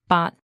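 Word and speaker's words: 八: We consider the number 8, or in Cantonese, Bat, as a lucky number. It's because it sounds like the other word, Fat, meaning wealth.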